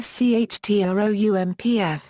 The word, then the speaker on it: Schtroumpf: La Flûte à six Schtroumpfs. Schtroumpf is pronounced like the German word "Strumpf" meaning "sock".